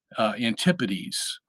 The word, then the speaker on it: Antipodes: The pronunciation of that word kind of obscures it a little because if you were to be crude, you could say antipodes. Okay, antipodes. Anti is against, podes is feet in Greek.